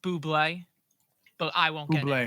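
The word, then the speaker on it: bubly: it's pronounced Buble, but I won't get Bublé.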